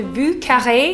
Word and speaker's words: Vieux Carré: the history of the vu curry as i mentioned before the vucare or the vucare if you want to pronounce it like a french person is a classic new